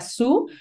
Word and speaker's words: Sault: creen que se pronuncia su porque es una palabra francesa Entonces yo yo era la primera que lo estaba pronunciando como solts y luego ya entendí